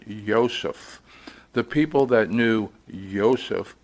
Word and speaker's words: Yosef: from a jug dealer named Joseph, and he insisted you pronounce it Yosef.